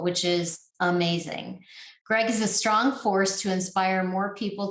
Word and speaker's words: Ostro: amongst other things right that is correct it's pronounced astro astra but you wouldn't be the first who